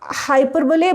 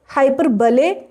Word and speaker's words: hyperbole: And not hyperbole, but hyperbole?